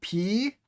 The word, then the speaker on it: pi: and then on to p uh not pronounced pi as in mathematics but P so if you want to ruin Pi Day you can start calling it pday uh line across the